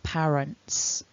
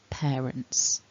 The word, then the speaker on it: parents: people pronouncing this like parents but it's not it's pear parents like the fruit okay so remember that that's your takeaway point from this video the first vowel is a double vowel air we need some movement